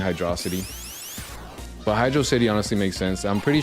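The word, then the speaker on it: Hydrocity: I'm pretty sure one of the developers came out and said that it's literally hydro city and and they that we're all stupid for pronouncing it hydroity.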